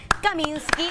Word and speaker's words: Kaminski: acompañan Adriana Infante y Cassandra caminsky así se pronuncia así muy bien de proyecto Mochi bienvenidas